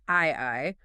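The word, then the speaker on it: 愛: He begins by pointing out that the Japanese kanji for the word love, which is pronounced "ai", requires exactly 13 strokes of the pen to write.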